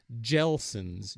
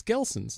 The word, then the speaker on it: Gelson's: waitrose of California called gel sins GTL s ons wouldn't you say it's gel sins gelsin yeah it's not it's Gelson's it's a hard G crazy anyway they have